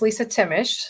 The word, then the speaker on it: Lisa Timish: It's Lisa Timish. So some silent letters in there, very hard to always pronounce versus the way it's spelled.